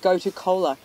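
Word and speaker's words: gotu kola: Yeah, a lot of people think I'm saying Coca-Cola, and it's not. It's go-to cola.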